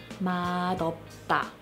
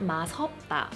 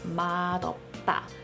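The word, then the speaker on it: 맛없다: word is correctly pronounced model stop it's not math about its model path because Matt and Appa are two separate words but let's look at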